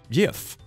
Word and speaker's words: gif: The bad news, the old English word GIF is pronounced YIF.